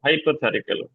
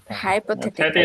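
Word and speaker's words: hypothetical: suggestion আর এইটা কি বলেন তো আপু এটার উচ্চারণ বলেন হাইপোথেটিক্যাল শিখেছি আমরা হাইপোথেল হাইপোথারটিকাল হাইপোথেটিক্যাল স্ট্রেস না হাইট স্ট্রেস একটাই হাইপোথে হাইপোথে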